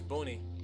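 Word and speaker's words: Buni: It's Boon. The way you pronounce his name is Boon though. It's B U N I I. You pronounce it Boon. You don't pronounce it bunny. You pronounce it boonie.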